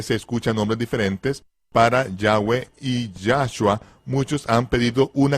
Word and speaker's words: Yahweh: Fonéticamente se pronunciaría correctamente Yahwe e Yahwe, donde es la Ya, he es a, va es como una vocal y he e Yahwe, Yahwe, no literalmente Yahweh, sino Yahwe.